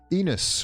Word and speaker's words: Enos: Enos, which rhymes with penis.